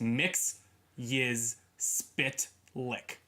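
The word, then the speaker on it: Mxyzptlk: we did this Supergirl I'll do the phonetic pronunciation it's mix his spit lick wonderful if you want to just hey hey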